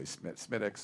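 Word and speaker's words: Smithwick's: It's spelled like Smithwicks, but if you go to Ireland, you say Smittix or whatever.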